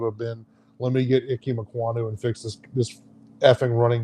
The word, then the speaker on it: Ikem Ekwonu: Ikem Ekwonu.